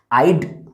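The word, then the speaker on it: I'd: इसका प्रोनाउंसिएशन सिर्फ और सिर्फ डी पढ़ेंगे, पूरा हैड नहीं पढ़ेंगे। आइड, व्यूड, यूड, हीड, शीड, देड।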